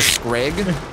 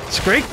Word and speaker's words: Scrake: Is it with the K or the G? Which one? Scrake. Scrake? It's Scrake, okay. Yeah. Scrake. I keep wanting to call it a Scrag.